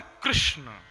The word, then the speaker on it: कृष्ण: अगर आप हमारे गुजरात जाएंगे तो वहां लोग आपको कृष्ण कहेंगे। कृष्ण, रुक्मणी नहीं बल्कि रुक्मणी, कृपा नहीं बल्कि कृपा। हर्द्रेय नहीं, बल्कि हर्द्रेय। गुजराती भाषा अलग है। लेकिन वास्तव में, 'कृष्ण' शुद्ध उच्चारण है।